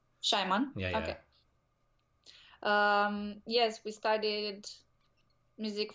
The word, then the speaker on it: Schyman: Garry Schyman shimano Simon how do you pronounce Oh Garry Schyman yeah Shimon yeah yes we studied